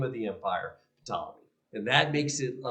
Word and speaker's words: Ptolemy: And yes, in Greek, they do try to pronounce that P. I'm trying my best to pronounce that P at the beginning of the word. They do pronounce it, and so I'm trying to do that as well.